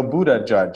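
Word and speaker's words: Buttigieg: believable in fiction exactly so Buddha judge I think is a reasonable way to pronounce it and everybody's having to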